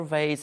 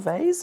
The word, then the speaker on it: vase: And then you have the other vase here. Or you say vase or vase? How do you say? I say vase. Some people say vase. I say vase. In French, it's vase.